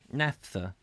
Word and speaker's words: naphtha: Google can give us a pronunciation where's my keyboard we will get the pronunciation NAFTA alright Nessa Nessa NAFTA thank you Nasser Nasser so I was kind of right naphtha Hess has yes what